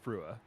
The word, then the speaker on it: Frua: In all seriousness, I do believe it is Frua.